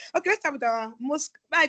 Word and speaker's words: MoSCoW: It's actually MSCW, but so that it is pronounceable. That's why they put the O, and now you have Moscow, whatever.